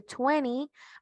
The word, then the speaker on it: twenty: eiting Twenty recordamos que para el 20 también podíamos decir Twenty Twenty Twenty consejo a mí se me hace un poquito más fácil trabajarlo con estas con esta pronunciación de tuenny Porque para mí a